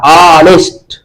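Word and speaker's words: honest: ये आनेस्ट लिखा था आनेस्ट तो ये आ से शुरू हो रहा है या से तो ये कंसोनेंट लिखा हुआ है। लेकिन उच्चारण इसका कैसा हो रहा है? वोवेल के जैसा।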